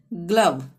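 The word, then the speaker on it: glove: तो जो भी आएगा तो वहां पे ग का उच्चारण होगा, यानी ग्लव में ग का उच्चारण हो रहा है।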